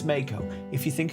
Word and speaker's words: Mako: If you think it's pronounced Marco, you're wrong. It's Mako.